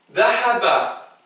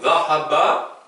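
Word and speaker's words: ذهب: Dahaba. C'est un de, mais entre les dents. Dahaba.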